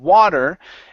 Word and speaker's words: water: okay now once again on water you want to use an a sound instead of wo water so it's a water so let's try that